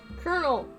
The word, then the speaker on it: colonel: a day two back to Colin of Sims Colonel it's colonel Colonel Sanders house a rose by